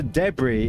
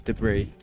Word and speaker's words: debris: Who said debris and who says debris? Is that the important questions of the stream? debris. There you go. You see, it just depends on which syllable you put the empasis.